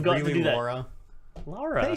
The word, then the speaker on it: Lara: Laura? Laura. They say, Laura. yeah. Lara. It's not. It's different than the American Laura, than Laura. It's Yeah.